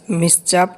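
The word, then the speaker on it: mischief: চাপ again do such মিস চাপ again এখানে আই সাইলেন্ট হবে আমার কোন আপত্তি নেই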